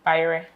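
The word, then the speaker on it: bayerɛ: Bayre.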